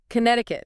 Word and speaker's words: Connecticut: Connecticut. Another spelling anomaly. Looks like it should have more sounds. It does. That middle C is silent.